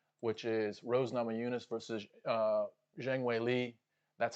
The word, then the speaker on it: Zhang Weili: is Rose Namajunas versus Zhang Weili. That's how you pronounce it, I believe, from someone from China. You do the last name first and then the first name.